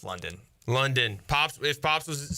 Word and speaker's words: London: First off, is his name London or Landon? Because your father there, Holton, was going Landon the whole time. Is it Landon? Do we have the name wrong? I had to check that too, and it's London.